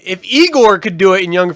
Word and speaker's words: Igor: that seriously like if Igor could do it in Young Frankenstein now it's pronounced I Gor why can't Han do